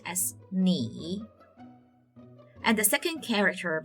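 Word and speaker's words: 你: The first character is pronounced as ni, and the second character pronounced as hao.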